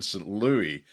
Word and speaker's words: St. Louis: U you know, I remember her in Meet Me in St. Louis. Sorry, got to say it correctly. Meet me in St. Louis, as um the Americans would correctly say, and in Easter Parade.